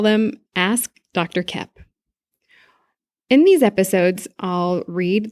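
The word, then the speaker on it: Koepp: And Kep is spelled K-O-E-P-P, like two peas in a pod.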